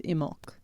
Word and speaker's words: Imbolc: we had a lovely imul ceremony which uh apparently i' I've been saying it wrong my whole life apparently you don't pronounce the b so it's imul uh I'm not sure